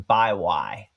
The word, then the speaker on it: Bywy: So a pronunciation on that one, Byway, is what I've been told. BYWY is Byway.